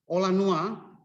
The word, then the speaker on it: Olanua: I can spell it, O-L-A-N-U-A.